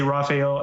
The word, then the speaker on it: Raphael: though for some reason I want to say it like assume it's Brazilian so fail yeah it's obviously Raphael if your last name you're not Brazilian Horiguchi and Wolfe Caldwell